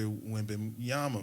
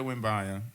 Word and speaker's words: Wembanyama: game is, yo, dog, I might say Victor Wembanyama, man.